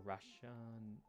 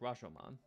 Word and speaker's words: Rashomon: night shift, I was watching a movie called Rashomon or Rashan. I always pronounce this. I always forget. Oh no, Rashomon.